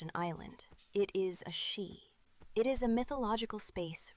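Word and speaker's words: sídhe: They called them she pronounced she.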